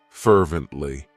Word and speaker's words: fervently: It has 3 syllables, and the stress is on that first syllable, fervently.